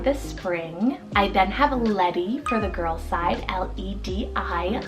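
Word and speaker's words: Ledi: I then have Letty for the girls side, L-E-D-I, Letty.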